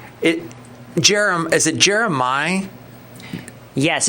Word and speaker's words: Jeremih: it jerem is it Jeremih yes it's jeremiah stuff like that okay yeah because he doesn't have a aah in there so it's jeremiah yeah it's jerem I